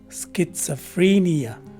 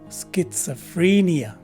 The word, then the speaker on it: schizophrenia: takes a swa sound the letter e is a long e as well as the letter i and finally the letter a at the end of the word is a soi sound so the correct way to say this word is schizophrenia again schizophrenia this is